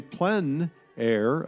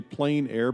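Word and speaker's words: plein air: open air or Outdoors the French say PL air others say plain air but no matter how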